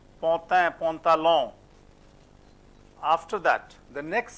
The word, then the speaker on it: pantalon: AN is also as on, almost same as O. Pantin, pantalon.